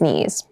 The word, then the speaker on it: knees: it feels quite hard keep in mind yes this word begins with a K in spelling but the pronunciation is KN the boy fell and scraped his knees the boy fell and